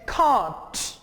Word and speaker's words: can't: Contraction है वो है कांट। कांट, और कांट आप इसे प्रोनाउंस करेंगे ब्रिटिश इंग्लिश में, और अमेरिकन इंग्लिश में आप इसे प्रोनाउंस करेंगे कैंट।